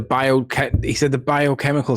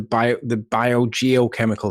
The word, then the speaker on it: biogeochemical: He didn't say it right. He said the biochemical cycle. He needs to say the biogeochemical cycle. Get out, No, Gio, Tommy. sorry. You failed us all. 3 syllables, man.